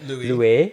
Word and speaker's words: Louis: It'd be Lewis, but they want to pronounce it like Louis.